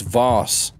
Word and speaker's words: Voss: a big old V it's not how you say it it's Voss a Voss all right